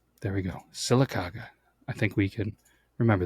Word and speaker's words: Sylacauga: This is how you say the town. Sylacauga. And you can slow it down with a little bit of draw. Sylacauga. There we go. Sylacauga.